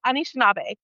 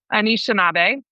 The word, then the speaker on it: Anishinaabe: It's Anishinaabe. Anishinaabe.